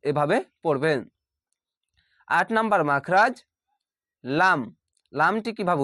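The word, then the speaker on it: ل: পাশের এরকম লাম লাম জিহ্বাটা চাপটা হয়ে থাকবে না একদম উপরের দিকে লেগে লাম একদম খুব চাপটাও থাকবে না এবং খুব লাম্বাও থাকবে না লাম লাম লাম দাঁতের সঙ্গে কিন্তু লাগিয়ে হবে লাম এভাবে ভাবে নয় নাম্বার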